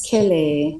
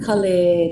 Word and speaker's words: Kelly: And my name is Kelly. Not Kle, not Kylie.